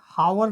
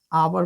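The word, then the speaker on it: hour: में नहीं ना अब इसका प्रोनंसिएशन क्या करते हैं हावर नहीं होता है आवर पढ़ते हैं इसको अब इसका प्रोनाउंस में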